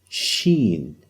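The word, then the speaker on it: شين: And we have a letter that looks exactly like it, but it's the letter Sheen.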